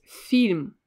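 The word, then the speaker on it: фильм: the last word is film film again it's quite easy to guess it film and in english well film film film just in the russian word you need to pronounce this soft sign and again i will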